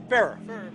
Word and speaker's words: Ferrer: Jackie Piper, Joe, I hope I'm not mispronouncing Joe's last name, F-E-R-R-E-R. What do you think that is, John, number two? Ferrer or Ferrer? Farrer. All right, we have it officially as Farrer, Joe M.